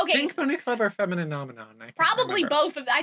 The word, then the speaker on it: Femininomenon: But no one could pronounce Femininomenon. Yeah, it's like the Muppets. Yeah, which is, phenomenon.